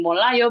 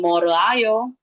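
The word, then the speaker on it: 몰라요: Kenapa more ditambah ayo jadi molayo? Bukan more ayo.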